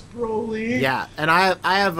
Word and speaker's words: Broly: know it's Broly right you say you love Brolly but his name is Broly right but like I I've read his name